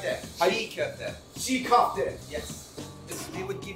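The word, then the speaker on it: çiğ köfte: I'm sorry if I messed up the pronunciation. How do you say it? Right there. Sigkofte.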